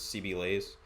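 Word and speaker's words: CB_LAZ3: It's pronounced as CB Lays, and on Drop 'em all the drop 'em a socials, follow.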